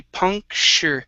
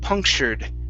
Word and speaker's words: puncture: Okay, same thing here with the TU. Okay, this is going to be puncture. So SH sound, punctured.